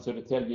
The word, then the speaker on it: Södertälje: So when you get around Sweden here, you get up to where it says Värtan, Södertälje, Gävle, even if you wouldn't pronounce it like that, so that's how you pronounce it in Swedish.